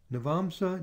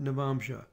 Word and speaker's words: navamsa: software and the rossi you'll often hear things pronounced with an s sound or an sh so some people say